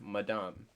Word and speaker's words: madame: say matt in english we say madam but in french it's madame so literally my lady